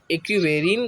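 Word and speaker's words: Ekuverin: कभी पूछ लेता है, एक्वेरिन। अब जो इसका प्रोनाउंसिएशन है, स्पेलिंग में लिख देता हूँ, EKUV ERIN इक्वेरिन करके यहाँ पे जो इक्वेरिन करके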